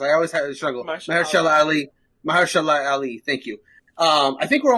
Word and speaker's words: Mahershala Ali: How's his name pronounced? I always have a struggle. Mahershala Ali.